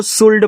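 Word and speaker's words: should: एस एच ओ यू एल डी। तो आप इसको देखो शुड पढ़ते थे ना। हमने क्या सिखाया भैया? शुड पढ़ना है। तो शुड में यहां देखो एल के बाद डी आ गया। तो एल आपका साइलेंट है।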